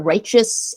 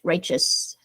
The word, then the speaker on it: righteous: uh but it's uh righteous almost as if the almost as if the T is like a CH righteous so the sound of